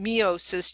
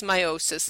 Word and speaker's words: meiosis: and this is where I had in the past been calling it meiosis, just so you can see what that word looks like, but it is meiosis the way it's pronounced.